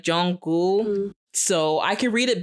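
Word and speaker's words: Jungkook: pronounce his name because when I read it in English I say Jun cook I do especially if I'm speaking fast I know you're not supposed to say it like that it's like Jong goul so I could read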